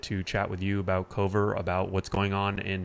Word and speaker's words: Kover: dot ai okay uh pronounced like cover but after talking to something like 100 customers and 98 of them pronouncing it cover we decided that we